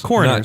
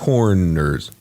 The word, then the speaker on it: coroners: Somebody said Coroners. Not corners. I'm saying coroners.